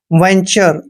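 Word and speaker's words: venture: आधा न करते हैं टी यू आर ई का उच्चारण चर करते हैं वेंचर दोस्तों वेंचर मींस होता है उधम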